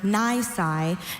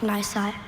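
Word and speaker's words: nisi: The queen's order Ny noted that the enemy might surrender and make an attack unnecessary. Ny n i s i nai.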